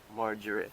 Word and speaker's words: margarine: So so the g is pronounced as j. So that's why I said margarine.